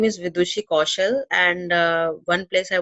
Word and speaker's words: Vidushi: And next we have our guest with Duche. I just pronounce it, hopefully it's correct again. Hello, my name is Vidushi Kaushal, and one place I want to visit is Leh in India.